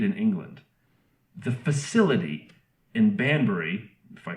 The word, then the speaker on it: Banbury: cars were made in England the facility in Banbury if I pronounce that right yes you did where they